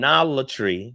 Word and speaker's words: monolatry: was hesitant about your Mon monol Mon monolatry that's how you say it or henotheism classes on